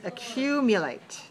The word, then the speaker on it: accumulate: word the word is accumulate how many dots three dots means four syllables accumulate and the syllabus dress code is four two because we rise on the second syllable watch me accumulate show